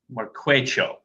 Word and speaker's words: Marquecho: Okay, I just wanted to make sure I pronounce Marquejo, right? Marquecho. Marquecho.